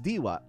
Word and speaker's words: Diwa: Or my real name is Diwa, D-I-W-A, but a lot of people mispronounce it.